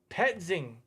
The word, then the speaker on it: Petzing: Electric says, Drew, how do I pronounce his name? Petzing.